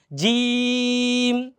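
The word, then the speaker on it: ج: জিম, এটা easy, জিম, জিমের হলো বরকত জ, জিমের উচ্চারণটা বরকত জ।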